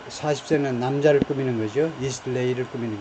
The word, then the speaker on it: Eastleigh: 액센트 또는 word stress의 위치가 중요한데 이 고유명사들의 그래서 앞에다 액센트 제1음절이다. Eastleigh, sorry. nearby Eastleigh. 거기 억류를 했다. 이 사람은 suspected, 무엇이라고 혐의가 있다는 겁니다. 뭐하다라고 혐의가 있는. 그러니까 이 40세는 남자를 꾸미는 거죠. Eastleigh를 꾸미는 게 아니고 이